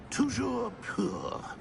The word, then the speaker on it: Toujours pur: Toujours pur. Ha! Toujours pur.